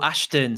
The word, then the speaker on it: Ashton: Is that how you say his name? It's been a long time. Ashton Liu, I think, is his name. Oh, Ashton. Sorry, Ashton. Ashton. I heard it completely wrong then.